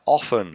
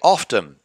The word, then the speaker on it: often: It's the same as saying like often and often. I say often. Other people say often. The T is not pronounced.